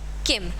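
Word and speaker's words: किं: किम, इसको मैंने किम क्यों पढ़ा, यहाँ पर अंक की बिंदी है और संस्कृत में जो अंक की बिंदी होती है उसे हम माँ प्रोनाउंस करते हैं, माँ। तो इसलिए यहाँ पर हम इसे क्या पढ़ेंगे, किम।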